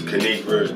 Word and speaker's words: Kanigra Dion: What is Kanigra Dion? And it's pronounced Kanigra. Don't fuck her name up.